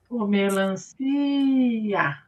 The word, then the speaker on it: melancia: Melancia. Hã, o si. O si, melancia, ó. Melancia. O si não teve o som estendido, ó.